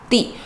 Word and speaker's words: 地: 人就会念地。 And because this character is also pronounced as 地 as in location, it's also sometimes pronounced as 地 so 的地 both pronunciations are present.